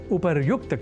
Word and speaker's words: उपर्युक्त: जाना चाहिए, अर्थात उपरोक्त के स्थान पर उपर्युक्त कहा और लिखा जाना शुद्ध है, यह हमें अवश्य स्मरण रखना चाहिए।